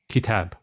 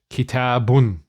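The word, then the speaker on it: كتاب: is qalam or kitab, we'll also stop and say kitab. For example, indi kitab. That's how I would say it in normal conversation and how I would pronounce it. But when I'm teaching it, I'll say indi kitabun. Okay, so that un is just the ending, and that's always there,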